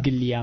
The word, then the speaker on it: Biglia: Da sottolineare il fatto che un'altra buona prestazione di Biglia, come dicono i commentatori, perché lo pronunciano orrendo, no, alla spagnola, sì. Biglia, ma che una buona prestazione.